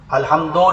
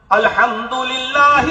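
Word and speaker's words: الحمد لله: अल्हम्दो नहीं है, रब्बिल नहीं है, रब्बिल आलमीन। प्रोनाउंसिएशन भी सही कीजिए ताकि हमारी नमाजें सही हों अल्लाह के। अल्हम्दुलिल्लाहि रब्बिल आलमीन।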